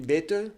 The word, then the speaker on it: Bette: Je l'ai bien prononcé, on dit Betheux. Ah bah ouais, l'allemande, c'est bêteux.